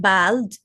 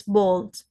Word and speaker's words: bald: colleague colleague seven bold a l in English you pronounce it as o l not a l so not Bal it's bald like wall w a l wall